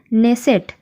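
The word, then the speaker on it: Knesset: परीक्षा ता नाम हो नेसेट के एन E double S ई टी केटा ने साइलेंट कक जमन देख जीब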